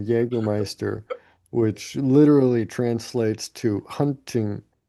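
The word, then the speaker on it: Jägermeister: Germans pronounce the letter um J as we do the letter Y. So um you know hence the pronunciation of Jaggermeister which literally translates to hunting master or hunt master.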